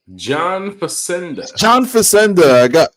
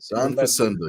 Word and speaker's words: John Facenda: John Facenda. I messed up my syllables and got my vowels mixed up. Yes. Yeah. John Facenda.